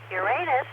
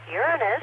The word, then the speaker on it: Uranus: disagreement on its pronunciation Uranus is the pronunciation I learned as a youth and still preferred by third graders Uranus is preferred by astronomers but according to Wikipedia either is acceptable on March 10 1977